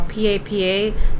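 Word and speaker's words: papá: that means Pope also if you spell PA paa is just potato but PA paa Accent on the last a means father so you want to make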